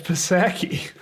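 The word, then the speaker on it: Psaki: i don't know if i know how to pronounce her name it's set it's pasaki everybody knows that it's jen pasaki definitely is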